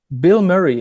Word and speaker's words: Bilmuri: why your name again Bill Murray it's like the the name of the actor yeah but it's spelled differently it's spelled um wrong on purpose and that's that's the